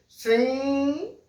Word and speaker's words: श्रृंग: श्रृंग, श्रृंग, देखिए पूरी नाक से निकल रही है।